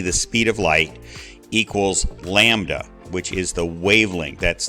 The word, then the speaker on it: lambda: looking upside down Y is wavelength it's it's Lambda and it's the Greek letter it's pronounced Lambda so wavelength is a distance measured in meters